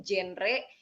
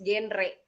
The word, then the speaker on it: GenRe: Terus bagi yang belum tahu nih, genre, jangan salah pengucapan ya. Masih banyak banget orang yang nyebutinnya tuh genre, padahal it's genre, bukan genre. Karena kan generasi berencana, bukan generasi berencana.